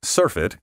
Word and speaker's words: surfeit: is surfeited with words the corresponding noun surf it spelled and pronounced the same way is most often used